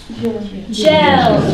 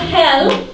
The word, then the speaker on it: gel: didn't have any more gel gel gel be careful not hell if you say hell I think this okay this is gel gel gel okay hell gel yes